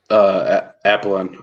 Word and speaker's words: Apollon: Apollon. I think there's an N at the end, isn't there?